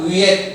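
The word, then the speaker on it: wheat: Dalam bahasa Inggris gandum itu disebut wit ya, wiet gitu ya bacanya. W H E A T gitu gandrung.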